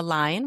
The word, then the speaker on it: Lein: You can find that anywhere podcast you listen to them and my website is my name Line, which is spelled L E I N.